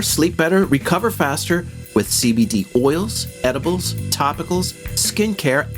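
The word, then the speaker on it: Seabedee: by the folks at cbd that's spelled s-e-a-b-e-d-e-e and they are providers of premium cbd wellness products now cbd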